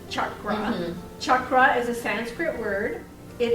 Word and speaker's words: chakra: chakras okay first of all the word is pronounced Chuck groans Chuck rot is a Sanskrit word it is as I